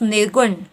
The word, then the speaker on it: निर्गुण: ठीक है, जब आप इसका उच्चारण कर रहे हैं तो क्या ध्वनि आ रही है आपको? नी, निर्गुण। न पे भी आपका जोर पड़ रहा है और ग पे भी जोर पड़ रहा है। ठीक है, अर्थात यहाँ क्या हो गया? आपके दोनों ही ह्रस्व स्वर होंगे, लघु स्वर होंगे।